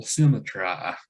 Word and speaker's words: symmetry: could frame thy fearful symmetra um instead of saying it's symmetry you say it call it say it this silly try to rhyme with eye and what distant deeps